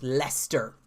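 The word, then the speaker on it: Leicester: the iourney spectrum and she told me that leister le i c EST yars pronounced Lester so now I know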